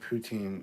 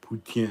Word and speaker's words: poutine: Well, it's just the standard poutine, or poutine. I'm sure Sylvia's downstairs like going, it's pronounced poutine.